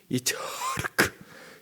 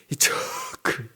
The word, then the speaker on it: 이삭: 이차르크, 이게 이삭이에요. 이차르크. 츠흐 크를 다 집어넣었어요. 발음하기 힘든 알파벳을 다 집어넣어가지고 너 나 비웃었어? 네 아들 이름은? 종은 하갈은 이시마엘 일어나 이럴 때 주인은 이차크 일어나 이차크 밥 먹어 이래야 돼요.